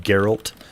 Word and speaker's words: Geralt: His name's Geralt. He has a horse. It's pronounced Geralt, but yes, I agree with what you're saying.